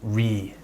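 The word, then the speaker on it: receipt: reat ใช้ คำ ว่า reed คำ นี้ อ่าน ไม่ ตรง ครับ ไม่ ได้ ตาม ตัว อักษร res ไม่ ใจ ครับ ปรับ เสียง กลาย เป็น reat reat Listening to แน่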